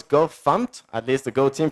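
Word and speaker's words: gofmt: I guess everybody knows by the way it's pronounce gof fump at least the go team pronounce it gof fump I've heard it so many different ways I pronounce It gof fump Go fmt sounds okay guess uh then there's go Imports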